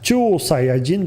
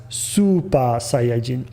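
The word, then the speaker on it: スーパーサイヤ人: on top of it telling us that we should pronounce it not as chuo sayajin but as super saiyajin and that's meaningful and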